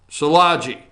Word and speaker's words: Szilagyi: How did she pronounce it? I am terrible at that. Szilagyi.